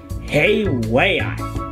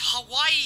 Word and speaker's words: Hawaii: got the flight tickets to the tropical paradise hey way i perfect i always wanted to go on a trip what did you just say uh hey way i hey it's hawaii you silly fix your words man how do